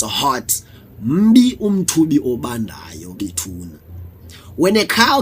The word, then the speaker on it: umthubi: Umthubi is pronounced umthubi.